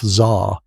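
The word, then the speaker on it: tsar: He called himself Zar, which is just the Russian pronunciation of Caesar.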